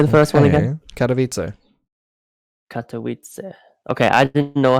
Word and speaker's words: Katowice: correct yeah so say the first one again katowice katowice okay i didn't know how to pronounce that okay i guess you know how